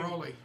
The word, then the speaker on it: Raleigh: It's Riley or something, right? It has to be North Carolina or something. Raleigh.